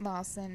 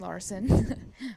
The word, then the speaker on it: Larson: out yeah so yeah it's not Lawson it's Larson but uh that's how they pronounce it so I'll go with